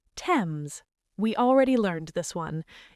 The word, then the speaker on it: Thames: Number 1, Thames. We already learned this one. It is not Thames, it is Thames. The H is silent. Thames. Got it.